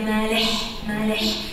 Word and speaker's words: Malech: Nadja Malech. Das H hinten bei meinem Nachnamen ist ein Ech.